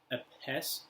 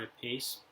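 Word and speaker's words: apse: It's Apese, or Apese, spelled A-P-S-E, which is the semicircle design of the chorus.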